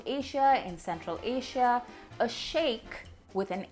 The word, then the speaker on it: sheik: about in this video, I am going to go with that pronunciation and refer to that character as the sheik. Even though, let's be clear, it's a complete bastardization of the actual word.